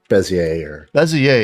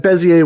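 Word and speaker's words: Bézier: beijing not sure yeah it's probably french i don't know it's french yeah it's it's bezier yeah yeah exactly yeah but bezier with a good french accent all right which i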